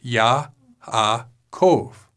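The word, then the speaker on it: יעקב: hebrew names are verbs Yaakov is yah-ha Kove notice here that the Joad is at the beginning of this syllable and is a consonant and the wah is in the middle of the syllable and therefore a bow this is a verb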